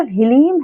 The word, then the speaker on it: ह्लीम: ये जो ह्लीम है इसमें ल लगा हुआ है ना, तो ह्लीम इसको ऐसे ही उच्चारण करना है, ओम ह्लीम बगलामुखी नमः।